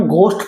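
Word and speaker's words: ghost: अब ऐसे देखिए जी एच ओ एस टी इसको भी जनरली हम घस्ट पढ़ते हैं। यहां पे ये घ की साउंड नहीं है। ये क्या होता है? घोस्ट।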